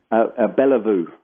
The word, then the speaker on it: Bella Vou: uh the clinical director and then a party pronounce the name of your clinic Roger beliveau beliveau vele newark vou beliveau clinic and once